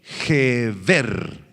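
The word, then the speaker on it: גבר: G-H-E-H-B-E-R con acento en la segunda E. Gever, que describe, escucha, esta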